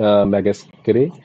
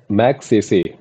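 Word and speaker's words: Magsaysay: Ravi Kanan has won Raman मैगेस्करे award 2023। Raman मैगेस्करे award किसको मिला है, ठीक है, मैगसेसे, ठीक है, sorry for pronunciation, Raman मैगसेसे award किसको मिला है, रवि कनन को।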